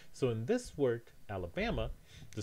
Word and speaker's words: Alabama: You can't say Alabama. You need to say Alabama is the word.